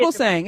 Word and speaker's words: Fugelsang: I like that idea, and I got that from John Thuger saying.